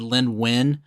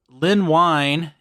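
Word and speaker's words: Len Wein: this show before but I think I said Lyn WN okay and I think more of more of my research has discovered is pronounced wine uh so Lyn wine is the guy who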